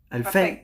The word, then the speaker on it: Alfei: entonces de Coti alfei está bien pronunciado tu apellido lo pronuncié bien al fake Ah bien perfecto me animé al cote